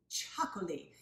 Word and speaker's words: Txakoli: but the fact that it's got that tricky little TX going on in the beginning makes it kind of a tongue twister fun wine to say